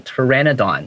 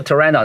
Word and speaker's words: Pteranodon: 就是托勒密，因为他这个是希腊的这种名字嘛，所以很多时候 T 前面还有一个 P，那个 P 是不发音的。我第一次碰到这种前面 P 不发音的是讲到恐龙的时候，因为我小时候好喜欢恐龙。他提到那个 Pteranodon，就是那种异手龙，哈，他那个 Pteranodon 它是 P 开头的，但是我一听到，他怎么没有发那个 P 的声音呢？因为这个 P 不发音，所以你可以在这个 P